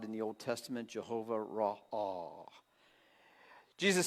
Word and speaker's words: Ra'ah: R-A-A-H, Ra'ah. The pronunciation would be R-A-W/A-W.